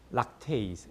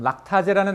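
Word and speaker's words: lactase: 그래서 우리나라 발음은 아제라고 얘기해요. 근데 생만생을 배웠으면 발음을 조금 바꿔서 락테이즈, 에이즈라고 발음하는 게 좋은 거예요. 그렇죠? 근데 다 이제 고등학교 시절 배운 것처럼 락타제라는 엔자임이 딱 붙으면 얘가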